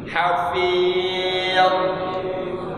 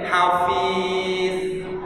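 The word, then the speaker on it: حفيظ: Saya ingin perhatikan bacanya di akhir ini, Allah hafidh. Ini kita Allah kan baca Allah hafidh. Dia kemungkinannya kebanyakan jadi hafiz, kan itu kebanyakannya.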